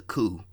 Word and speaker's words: Coup: the coup and remember it's pronounced the coup not the coupe but the coup the p is silent I think they actually